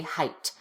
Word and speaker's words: height: TH, so they say height. Don't say height. That's not a word. Say height with a T. The GH is not pronounced. Just pretend that it's not there.